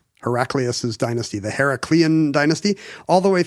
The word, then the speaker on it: Heraclius: Well, this is not Heraclitus. It doesn't have a T. Oh, I see. So it's Heraclius or Heraclius, maybe? Heraclius. I'm sure we'll find... Someone's going to yell at us about it. Does it rhyme with miraculous?